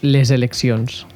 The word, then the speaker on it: les eleccions: Que haurien de pronunciar les eleccions. Les eleccions. Exacte. La S de l'article és que és sorda, solta, passaria a ser sonora perquè la següent paraula comença per vocal, que és sonora.